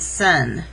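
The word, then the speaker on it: Seine: the most famous river in french it's the sun i know it's hard to see because i'm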